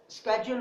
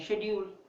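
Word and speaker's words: schedule: स्केड्यूल बोलते हैं, हम टीचर्स कहते हैं शेड्यूल। शेड्यूल एंड स्केड्यूल both are best, लेकिन मेरे ख्याल से स्केड्यूल इज a good word.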